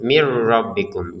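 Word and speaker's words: مِنْ رَبِّكُمْ: Tapi karena di depannya ada ro, maka kita masukin nun sukun ini kepada ro sehingga terbacanya langsung mir rabbikum.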